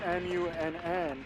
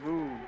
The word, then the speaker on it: Munn: It's MUNN, but people still call me Moon.